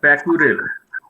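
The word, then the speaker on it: Pokharel: Paikural sir, is it? Am I pronouncing properly? Pakurel. Paikural.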